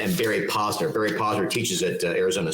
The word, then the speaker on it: Posner: because I kind of like that with Barry Kozner and James. Make sure I say it right. It's James Koshis and Barry Posner.